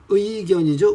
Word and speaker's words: 의견: 그 다음에 의견이죠. 의견. 이견이라고 발음 안 되죠.